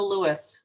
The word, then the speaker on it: Luis: Is it Luis or Louis? It's Luis.